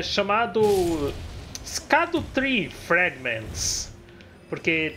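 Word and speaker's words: Scadutree: porque tipo, é chamado Skadutri Fragments, porque é Skadutri em inglês, só que na verdade Skadu é uma palavra em inglês para sombra e literalmente se pronuncia Shadow, então na verdade é Shadutri.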